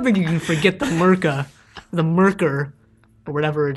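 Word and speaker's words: Myrka: I mean, I don't think you can forget the Murka, the Murker, or whatever it is. The Murka. Murka. Well, I don't know. British people, like, don't pronounce, like the final R's in a word.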